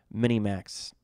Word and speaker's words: minimax: conservative approach and the minimax regret approach it's yes this is pronounced minimax minimax like Mini Cooper but instead of Cooper it's max I don't know why